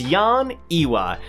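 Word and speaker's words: Yeon Ehwa: my best girl in tower of god is yon iwa and yes that is how you say it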